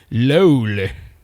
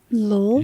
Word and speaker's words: löyly: And that's how the Vegas, I mean, when you say lol, which I'm probably totally butchering, sorry, Finnish friends, but that's how I thought you guys pronounced it.